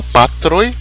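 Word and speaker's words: patroj: O J no final, que pronuncia I, é um I breve, na verdade é uma consoante. Então, la patroi, o acento é sempre paroxítono, né?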